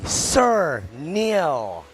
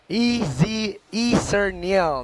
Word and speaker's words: Sir Neil: It's actually Sir Neil, sounding like Easy Mill. Sir Neil.